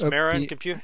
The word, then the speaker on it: Marin: So let's talk about this Marin computer. Is that the right? Is that how you pronounce this? Marin.